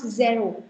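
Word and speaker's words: zéro: Please don't pronounce it as zero. It's not zero. It's Z. A का sound लगा हुआ है ये इसमें. This is A and then O. So zero. Zero.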